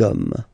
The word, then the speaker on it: hommes: You don't pronounce it, so you get des hommes, okay.